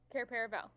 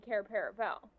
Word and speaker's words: Cair Paravel: Cair Paravel.